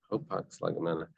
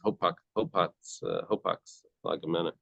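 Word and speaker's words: hapax legomena: Hopax, lagamena.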